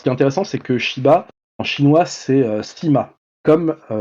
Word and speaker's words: Shiba: Et lui, son nom de famille, c'est Shiba, donc en 2 syllabes.